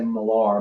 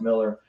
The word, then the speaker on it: Millar: Some people say Millar, but it's pronounced Miller.